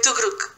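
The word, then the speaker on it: төгрөг: Et la monnaie, c'est le tugrik. Oui, Tugruk. Tugrik.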